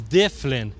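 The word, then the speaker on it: Dyflinn: our third settlement duin the Vikings pronunciation of duin is dlin which is d y f l i n n they couldn't pronounce duvin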